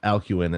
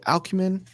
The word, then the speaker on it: Alcuin: How did we get to a point that if you look at, like, if you, Alcumin, is that, did I say it right? Alcumin? Alcuin, yeah, Alcuin.